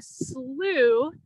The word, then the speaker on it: Slough: at the bottom of my screen so a slew even though it's spelled weird it's pronounced oo is a wetland